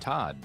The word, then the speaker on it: Todd: hi I'm your host Todd and yes that rhymes with bod so feel free to